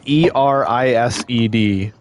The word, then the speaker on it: Erised: How do you pronounce that shit? It's like Erised.